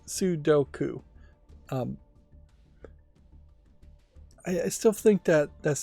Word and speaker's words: Sudoku: I still feel that puzzle number 1 of the free puzzle games, being a Thermo Sudoku, and I'm mispronouncing this still, it's Sudoku.